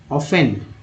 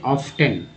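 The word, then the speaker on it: often: देखिए बहुत सालों तक बहुत ही बच्चे लोग अभी भी इसे ऑफ्टन पढ़ते हैं। क्या पढ़ते हैं, ऑफ्टन। यहाँ एफ जो है यहाँ टी जो है साइलेंट है, ऑफन पढ़ा जाता है, याद रखिएगा यहाँ, इसलिए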